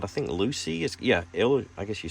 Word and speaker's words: Luci: And this is called, I think, Luci.